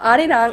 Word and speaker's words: Arirang: like well I actually said it in English pronunciation but Arirang is the traditional Korean song and that it's